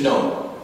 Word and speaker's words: know: Gnosis in Greek means to know. This is how we came up with the word know. It comes from gnosis in Greek. That's why we have K, and we don't pronounce it in English, because it's